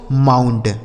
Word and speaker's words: mount: MOUNT, यम से हो गया म, इस ओ और यू का उच्चारण आऊ, एन से आधा ना, टी से ट, यह लिखा गया दोस्तों माउंट।